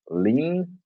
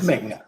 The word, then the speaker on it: Ming: Is it Ming or Ling? It's Ming. Ming.